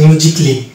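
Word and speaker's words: musically: Silent পাবো এবং এগুলোকে আমরা এ সাইলেন্ট ধরে উচ্চারণ করতে হবে। যেমন এটা হচ্ছে মিউজিকলি, লজিকলি, ফিজিক্যালি, অটোমেটিকলি, সার্জিক্যালি, বেসিকলি, রোমান্টিক্যালি, ক্রিটিক্যালি, নট ক্রিটিক্যালি, ক্রিটিক্যালি।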